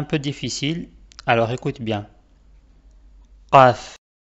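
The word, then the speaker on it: قاف: Qaf. Qaf. C'est un son grave et il sort en fait de la gorge.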